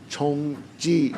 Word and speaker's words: 熊记: Chongji Xiao.